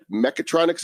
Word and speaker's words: mechatronics: And also, you've got an honors degree in mechatronics engineering. Is that how you pronounce that?